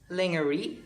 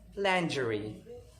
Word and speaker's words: lingerie: or r i e it is mispronounced by everyone as lingerie or lingerie but it's not it's very wrong it is pronounced as landry landry landry is a